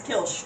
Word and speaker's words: Kilch: And it's hard to pronounce, but it's like Kil. It's Kilch, which is just kill but all the vowels are taken out.